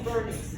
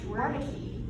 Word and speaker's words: Wernicke: It's a W, but it's pronounced as a V. It's German. Jeremy. But it's vernix. I always heard it as like Wernicke.